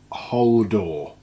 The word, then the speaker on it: Holdoor: the tripod projector stand by a company called uh whole door i guess is how we're pronouncing it um so there's quite